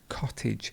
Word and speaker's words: cottage: to and a cottage notice here how the a becomes an i sound cottage it's like the words baggage that we discussed in our previous class of cottage then we have cotton cotton